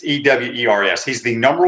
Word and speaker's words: Ewers: I can't pronounce his last name. It's Ewers.